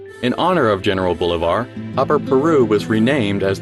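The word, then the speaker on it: Bolívar: tuberculosis in Europe his name is pronounced with stress on the last symbol bulevar in the 1820s a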